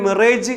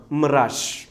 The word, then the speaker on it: mirage: MIRAGE നമ്മളിതിനെ മിറേജ് എന്ന് വായിക്കും. ഇതിൻ്റെ കൃത്യമായ ഉച്ചാരണം മിറാഷ്.